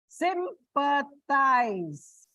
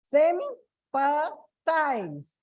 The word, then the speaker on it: sympathize: Sympathize. Sympathize. So again on the first syllable.